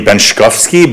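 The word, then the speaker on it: Benczkowski: The pronunciation would be Benkovski, but that just seems to confuse people a lot more, so I stick with it being very phonetic.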